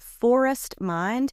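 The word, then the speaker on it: Forrest Mind: this ambiance thing, and it's called Forest Mind, except it is spelled Forrest, and they do it like forest mind, so you get it, Forest Mind.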